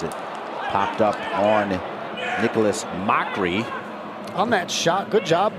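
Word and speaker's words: Macri: It's spelled M-A-C-R-I, but pronounced Mockery.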